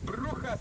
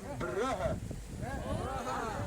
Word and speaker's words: Brugge: And over here, do you guys actually know how to pronounce the name of my city? You hear me say Bruges, Bruges, Bruges all the time, but here we say Brugge.